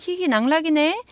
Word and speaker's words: 희희낙락이네: 이게 발음하고 쓰는 게 다르면 확실히 헷갈리고 어렵습니다.